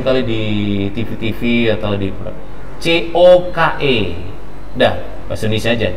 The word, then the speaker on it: Coke: Semuanya cuk. Tahu kan bendanya kan? Barangnya tahu ya. Sering TV itu kan, film-film. Cuk cuk cuki cuki. Bacanya ini sering terkecoh. Jangan cuk. Yang tadi yang pertama yang benar.